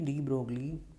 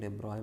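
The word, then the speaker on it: de Broglie: तो हम जानते हैं कि डी ब्रोगली, जैसे डी ब्रोगली नहीं बोलते हैं, डेब्रॉय बोलते हैं ऐसे प्रोनाउंसिएशन में, पर हम डी ब्रोगली ही बोलेंगे।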